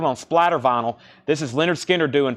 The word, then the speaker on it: Lynyrd Skynyrd: a buy now Kansas was 84.99 Lynyrd Skynyrd pronounced Leonard Skynyrd once again new and sealed on splatter vinyl this is Leonard Skinner doing pronounced live their first album doing it